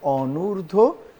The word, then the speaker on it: অনূর্ধ্ব: উচ্চারণটা হচ্ছে অনূর্ধ্ব, সংস্কৃত থেকে এসেছে, এটা তৎসম শব্দ।